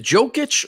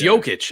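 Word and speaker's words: Jokić: the MVP was uh is it jokish or Joe kicks it's jokic okay okay I always [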